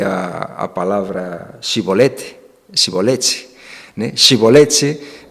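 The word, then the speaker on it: shibboleth: que os efraimitas, né, eram incapazes de pronunciar shibolete, eles diziam sibolete, né, em lugar de uma alveopalatal, pronunciavam uma fricativa alveolar, né.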